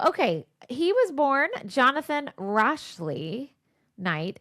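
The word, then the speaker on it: Rashleigh: He was born Jonathan Rashley Knight. It's spelled R A S H L E I G H. Okay. Rashley.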